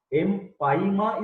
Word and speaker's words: empyema: Try to note down the difference in pronunciation and spelling. Empyema is different and emphysema is different. EMPHYACMA. Are you getting my point? Emphysema. Emphysema is common.